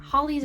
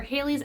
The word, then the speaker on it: Halley's: I mean, I thought it was Halley's or Halley's. I don't know. To be fair, my roommates and I got into a fight about how it's pronounced, and even the internet is indecisive on how it's pronounced, so I'm gonna say it both ways.